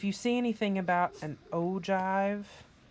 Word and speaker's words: ogive: see anything about an ogive and it's spelled that's a j sound though when you pronounce it you do not need